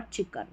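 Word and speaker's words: chalk: इस तरीके से शुरू में आ रहा है सी एच चेयर चाइल्ड चौक और चिकन यहां पर चौक में एल साइलेंट है।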